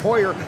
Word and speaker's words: Hoyer: We were told how to pronounce her name. It's pronounced Hoyer.